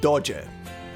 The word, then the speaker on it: doge: Is it pronounced dog? Okay, it's supposedly being said dodger.